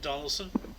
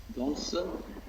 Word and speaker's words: Donelson: Grant Union forces at Fort how do you pronounce it? Donaldson. Donelson, Tennessee.